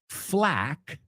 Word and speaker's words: flack: So the first one, flack. Say it with me. Flack rhymes with rack rhymes with track.